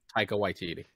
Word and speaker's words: Taika Waititi: takita sorry how do you say his name taika waititi taika uh fans will be very pleased because